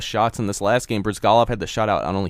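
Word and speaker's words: Bryzgalov: In this last game, Brizgalov had the shutout on only facing 17 shots, which is not what you expect from the offensive powerhouse like the Blackhawks.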